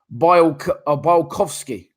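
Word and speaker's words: Białkowski: So So yeah, for me, someone's put his name is pronounced Bialkowski.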